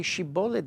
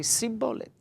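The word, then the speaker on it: shibboleth: Ephraim tribe, for example, could not say Shibolet, they had to say Sibolet.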